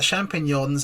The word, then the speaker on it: champignon: But I've just realised, and this is the part Bruno are now going to save us, is that champignons are mushrooms.